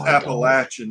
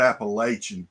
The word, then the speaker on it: Appalachian: It's pronounced Appalachian, not Appalachian.